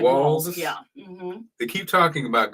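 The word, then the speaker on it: Walz: too but but but how do you say his name Waltz wals um like walls yeah they keep talking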